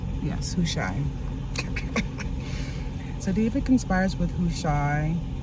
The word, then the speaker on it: Hushai: Is that how you pronounce his name? Yes, Hushai.